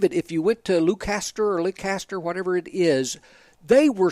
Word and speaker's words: Leicester: Well, it's spelled that way, but I heard a Brit call it Leicester.